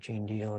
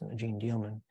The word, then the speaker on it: Jeanne Dielman: as being very important Gene dealman and I mispronounced that I call it Gene deal it's Gene dealman uh that wasn't something